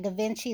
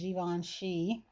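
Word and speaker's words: Givenchy: swear guys i'm so used to calling that da vinci that's probably what i'll say um because i've been calling it that since i was 12. but i do know that the correct pronunciation is given she but i was able to get one of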